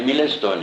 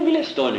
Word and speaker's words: Milestone: O Milestone é Milestone mesmo, se escreve, né? Mas lá ele pronuncia Milestone, né?